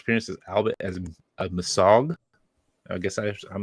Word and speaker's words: Mesogog: Anton Mercer making special appearance as Albert as a Masog. I guess I'm not sure as that's you pronounce it. Dino Thunder. Mesogog. Like Mesozoic era.